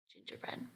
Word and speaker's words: gingerbread: hard g to me gingerbread gingerbread ja gingerbread genius genius governor govern hard g